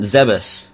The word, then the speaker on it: Zebes: So, here we come to planet Zebus, which thanks to the gloriousness of Metroid Other M, we now know how to pronounce.